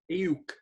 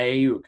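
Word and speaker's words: Aiyuk: Ayuk. Yeah, Ayuk.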